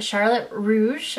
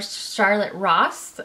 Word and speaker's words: Charlotte Russe: a Tryon of a Charlotte Russe or Charlotte Ross I depend on I guess where you live how you say it I decided to try